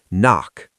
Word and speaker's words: NOC: Knock. Pronounced knock.